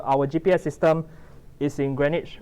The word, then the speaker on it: Greenwich: I believe it's spelled like Greenwich, but it's pronounced as Greenwich. Yeah, if you ask a person from British person, he will say Greenwich.